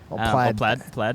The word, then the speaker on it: Plaid: is to be better than the model s played plaid as as as elon says he's definitely saying